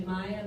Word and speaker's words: Mia: actually a common mistake my name is actually Maya but it's spelled like Mia but everybody called me Mia so it's okay being